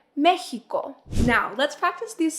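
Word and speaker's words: México: or the sh sound for example the word Mexico is said mexo now let's practice these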